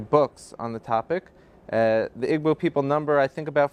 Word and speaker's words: Igbo: He's studying at the Florida International University, but he comes from Nigeria, from the Igbo tribe, otherwise pronounced Igbo.